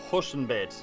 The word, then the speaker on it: Huschenbeth: your name right here your name is Nicholas hushen bid did I pronounce this correctly that sounds pretty good hello